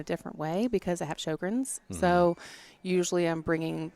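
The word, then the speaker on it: Sjögren's: So it's SJOGREN''S, and it's Sjogrens. You guys would be surprised many people can't pronounce it.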